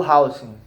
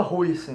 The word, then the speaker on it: Huijsen: e do outro o Hausen, né? Eu falava Huijsen, né, mas eu acho que é Hausen, né, pelo visto, né, que eu vi muitos comentaristas comentando desse jeito o nome dele, né?